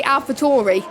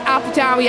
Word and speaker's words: AlphaTauri: David Croft called AlphaTauri AlphaTauri. And I was like, no, David Croft, you do not pronounce AlphaTauri AlphaTauri. It's AlphaTauri.